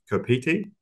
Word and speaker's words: Copete: So, discovery at Copete, I pronounced that correctly, Spanish for peach.